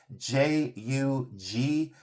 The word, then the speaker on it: jugate: I don't know if they pronounce it Jugget or Jugget. I'm not sure, but it's Jugate.